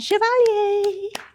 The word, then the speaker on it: Chevalier: whoa there we go yes I love how you say my last name Chevalier so I get asked the question all the time how do you say your last name right so if you're older here today you have probably heard of an Entertainer named Maurice Chevalier and a year around